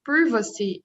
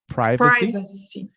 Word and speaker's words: privacy: others worry about information privacy as companies privacy in american english it's privacy in british english it's